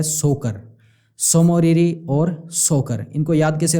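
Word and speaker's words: Tso Moriri: और दूसरी है सोकर सो मौर्य और सोकर इनको याद कैसे रखोगे यह भी सोच से शुरू हो रहा है तय साइलेंट है इसमें समय और इसे बोला जाता है तो सोम और हरी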